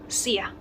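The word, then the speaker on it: Szia: Nah, di bahasa Hungaria, kalau teman-teman ketemu dengan huruf S dan juga Z, itu jangan dibaca Z, nope, tapi dibacanya S aja ya. Kayak S ketemu Z dan IA itu bacanya sia.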